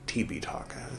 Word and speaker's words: Tipiṭaka: You can read the Tipitaka, or in the original Pali, Tipitaka is how that's pronounced.